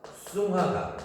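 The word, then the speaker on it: 松花江: 그래서 얘를 송화강. 근데 중국에서는 이거를 둔탁하게 발음해서 숭화강. 그렇게 얘기해요.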